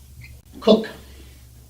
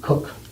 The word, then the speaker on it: Coke: was indentured to Edward cook I know it says coke but it's really cook that's how they pronounce it at the time and it's actually sir